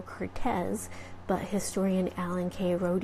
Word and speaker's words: Curtiz: Wolf and that was Michael Cortese or I guess we should really say Michael Curtiz but historian Alan Kay